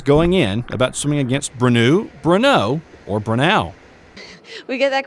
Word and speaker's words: Brenau: For the record, it's pronounced Brenau, and they're the ones leaving their opponents in